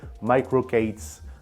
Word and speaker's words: MicroK8s: c'est micro K s on le prononce à l'anglaise microocates moi je vais dire